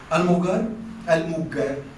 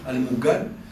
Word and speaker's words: Almugar: Almugar, para pronunciarlo a lo amazigh, Almugar, es el lugar de encuentro.